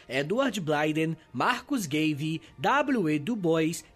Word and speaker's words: Du Bois: Du Bois e muitos outros. E provavelmente eu tô pronunciando alguns nomes errados, né? Tipo o próprio W.E. Du Bois deve ser Dubois.